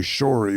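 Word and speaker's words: Sharey: I think the name is actually Shorey, but it's spelled S-H-A-R-E-Y instead of S-H-O-R-E-Y.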